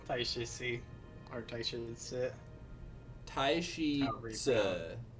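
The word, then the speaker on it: Taishi Ci: Taishi Tse is how I heard it pronounced by the YouTuber who speaks Mandarin that I watch.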